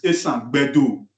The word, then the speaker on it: Esanland: Esanland, the original pronunciation is Esanland.